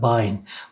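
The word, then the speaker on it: Bein: Ya da bine, bine bacak demek. E-i'ye i dediğimiz zaman bine şeklinde okunuyor.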